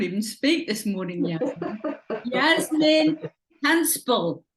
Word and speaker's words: Hanspall: Yasmin Hanspall. That's how you pronounce it, isn't Yes, it? perfect.